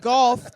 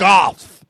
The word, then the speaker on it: Goff: Jared Goff. He was the first pick of the draft. Golf. They said golf. They say it like golf without the L.